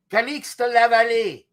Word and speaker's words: Calixte Lavallée: Calixte Lavallée.